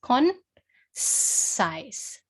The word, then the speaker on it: concise: So if it's a soft C rule, what sound does the letter C make then? So it makes the S sound. Okay, it makes the S sound. So it would be pronounced as concise, concise.